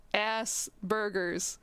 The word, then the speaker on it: Asperger's: just post the word ass burgers to make fun of how it sounds, and I'm like, thank you, yes, that is how it is pronounced, at least in the US.